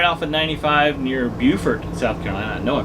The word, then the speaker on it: Beaufort: it south carolina right off of 95 near beaufort south carolina i know i pronounced that one right it's raining as it